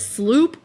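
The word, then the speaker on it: SLU-PP-332: Well, they pronounce it sloop, but it's spelled slup.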